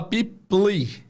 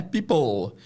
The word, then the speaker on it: people: Sempre o som de OL. Right. Se você não souber fazer o L do inglês, é uma coisa tem que treinar um pouquinho o L no final, mas basicamente é o W.